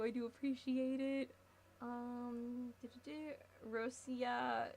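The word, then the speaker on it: Россия: Um, Rosia is how it would be pronounced. Rosia, is that how you would say it in Russian? Rosia. I'm trying to I'm trying to get that R thing down.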